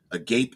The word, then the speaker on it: agape: I'm going to pronounce that because I've heard it pronounced agape, but it's agape and philia.